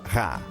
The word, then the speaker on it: Ra: Champollion sabia que em copta o nome do sol em egípcio antigo se pronunciava Ra.